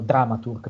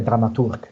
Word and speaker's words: dramaturg: Oggi tanti dicono dramaturg perché ormai è diventato un termine internazionale e lo si pronuncia quasi all'inglese. Naturalmente è dramaturg in tedesco.